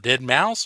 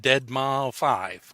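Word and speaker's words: deadmau5: Is it Dead Mouse or is it Dead Ma 5? I think it's Dead Mouse.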